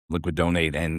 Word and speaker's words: LiquiDonate: So today we welcome Disney Petit, who is the founder and CEO of Liquidate, or am I saying it right?